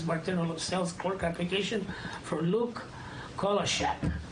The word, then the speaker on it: Kolashak: sales clerk application for Luke Kolashak. yes. Did I say it right? Everybody gets it wrong.